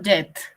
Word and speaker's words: Jet: ¿Tu nombre se pronuncia Jet o Jet? Así normal, profesora Jet.